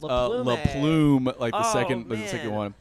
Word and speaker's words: Laplume: looks romantic his book it is pronounced La Plume you just Kevin mains